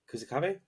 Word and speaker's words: Kusakabe: episode back up with panda and kusak AB kusakabe yeah that's the right pronunciation I'm going with that talking about yuji's